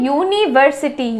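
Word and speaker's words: university: हैं जैसे for example यूनिवर्सिटी यू से शुरू हो रहा है लेकिन जब हम उच्चारण कर रहे हैं यूनिवर्सिटी यू तब उच्चारण ऐसा आ रहा है यू और वाई वाई क्या है वाई एक कॉन्सोनेंट है तो य का साउंड आ रहा है यू यूनिवर्सिटी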